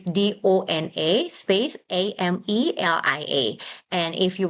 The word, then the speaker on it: Dona: N, by the way, Dona. Correct. Amelia. Yeah. And So then it's Amelia. Yeah, Yes. so we pronounce it Donna, but actually it's sort of a donor, I suppose.